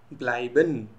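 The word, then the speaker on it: bleiben: Number two, any word having a ई, ए ई, ये sound करेगा आई, same as English I. Example, ब्लाइबन, ब्लाइबन, ये एक जर्मन वर्ब है जिसका मतलब होता है टू स्टे।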